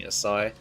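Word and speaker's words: açaí: Just think of Asahi beer and pronouncing Asai.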